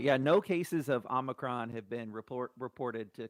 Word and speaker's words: omicron: the thing it's not it's not even the right name it's omicron and it's the president of the united states who's been saying omnicron that's the biggest uh he and he's and unfortunately he's mispronounced it a couple of times in case you you you missed it it's called the omnicron omnicron the omnicron variant no no no it's omicron omicron variant so i just want